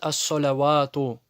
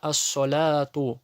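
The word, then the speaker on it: الصلاة: Многие допускают ошибку и читают ас-солявату. Почему ты ва читаешь? Ведь там нету, во-первых, огласовки. Во-вторых, ты должен знать то, что это подставка для маленького олива. Значит, читается она ас-соляту. Вау не читается, это подставка.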